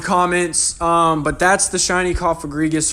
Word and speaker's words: Cofagrigus: Cofagrigus. That's how I think I pronounce it. I don't know. Let me know in the comments if I'm wrong. You know, like a coffin, but Cofagrigus.